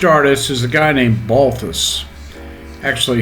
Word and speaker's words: Balthus: is a guy named balthus actually he pronounced it baltus which was his polish way of saying his name he was quite a